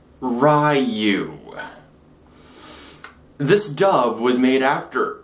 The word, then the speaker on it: Ryu: It's Ryu, not Ryu.